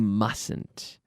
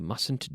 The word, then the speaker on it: mustn't: in M-U-S-T-N, apostrophe T, that first T is silent. We don't say mustn't. No, we say mustn't.